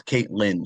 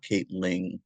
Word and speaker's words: Kaitlyn Lynn: Like right it's Kaitlyn Lynn like Jeremy Lynn. It's not Kate Ling.